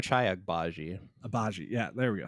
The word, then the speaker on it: Ochai Agbaji: Ochai Agbaji.